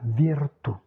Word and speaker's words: virtù: ok pas de souci le ou accent grave position finale. En position finale pas d'allongement vocalique la virtù la vertu la Juvent jeunesse. la Joventu la Virtou enfin toujours cette histoire